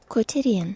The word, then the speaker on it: quotidian: How am I mispronouncing or pronouncing it a different way every time I say this word? Quotidians. Quotidian. Quotidian. Quotidian.